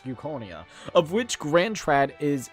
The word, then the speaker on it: Euchronia: Think of this marketplace as a microcosm of the suzerain state of Incronia. I think that's how you say it, Euchronia? I think it's Euchronia.